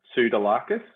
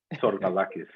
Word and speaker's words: Tsourdalakis: There's a few different levels of difficulty. So you were probably on the easy side of pronunciation there, and then the slightly harder is when you introduce the TS. So it's Tsourdalakis. Oh. And then the real hard way is the full Greekos way is Tsourdalakis.